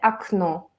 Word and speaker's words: окно: Por ejemplo, ventana se dice окно. Y tú sabes, entonces la segunda O es acentuada, la primera O no está acentuada, entonces se pronuncia como A.